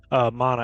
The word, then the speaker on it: Mana: Mana, actually, it is pronounced that way. I always mess that up.